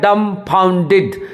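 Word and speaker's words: dumbfounded: देखिए डम्फाउंडेड, ये कि डी के नीचे लकीर है, इसका मतलब डी पे सॉफ्ट आवाज रहेगा, एफ के ऊपर लकीर है, इसका मतलब एफ पे जोर देना होगा। ए यू जो होता है, ए यू औ करके पढ़ते हैं, और डी आई डी डिड। यहाँ पे देखिए ए पे, यहाँ पे शुरू में देखिए ए कटा हुआ, ये अ होता है डम्फाउंडेड।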